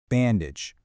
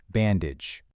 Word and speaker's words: bandage: Bandage. Notice that textured material wrapped securely around the injured hand. When you say it, use a soft G sound at the end. Bandage.